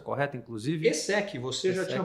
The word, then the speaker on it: ESSEC: Como é que é a pronúncia correta, inclusive? ESSEC, você já tinha pronunciado perfeitamente.